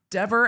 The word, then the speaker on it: Dever: Dever as in never. I'm going to start saying Dever as in Denver.